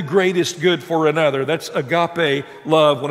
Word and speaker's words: agape: The one that John uses here is the highest form of love, agape. When you use the word agape, A-G-A-P-E is how it's spelled in using the English letters.